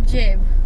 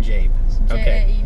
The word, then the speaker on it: Jaeb: And uh how do you say your last name? Jab. Jab.